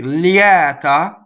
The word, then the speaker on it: lieta: Okay, lieta is an open E. Often, very often, a semi-vowel before an E will open it.